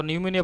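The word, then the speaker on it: pneumonia: আচ্ছা, রং স্পেলিং দেখো নিউমিনিয়া বানানটা ঠিক আছে। নিউমিনিয়া বানান হচ্ছে তোমার PNEUMONI। নিউমিনিয়ার মধ্যে তোমার পিটা তোমার সাইলেন্ট থাকবে।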